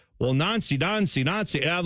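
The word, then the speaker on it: Nancy: I also feel like I mean whenever we say Wilfried Nons like that's the his name is spelled N A N C Y N but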